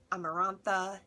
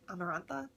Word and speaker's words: Amarantha: wanted to meet amber amarantha amarantha america it was like samantha but like amarantha how do you pronounce how is that pronounced amarantha we're going with that